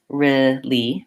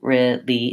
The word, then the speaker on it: really: gonna add in the I'm gonna suggest for this word that we use this pronunciation the really pronunciation so I'm gonna say it make sure I can say R make sure I can say me and then that I can move from riff to ly really really if I have